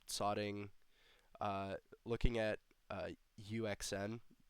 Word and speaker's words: UXN: uh looking at uh UXN. He pronounces it Yukian, but yeah.